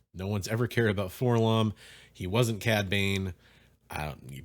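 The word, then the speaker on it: 4-LOM: I know people argue about how to pronounce that. I've always called him Forlom.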